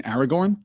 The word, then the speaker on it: Aragorn: when I say no if you pronounce all the names right you would have to roll both the ours in Aragorn is that true is